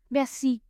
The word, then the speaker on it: merci: Merci. It was this word that taught me something useful in French and that is that you always emphasize the last syllable of any word.